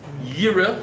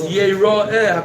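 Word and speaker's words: יראה: And one means Yira, he should see HaKadosh Baruch Hu. That's the way it's written. And the way it's pronounced is Yera'eh, HaKadosh Baruch Hu should see you.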